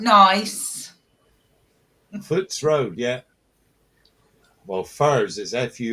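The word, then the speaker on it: Furze: How do you pronounce the road? The name of the road that you live on, Sue. Furs Park. F U R Z E. Furs.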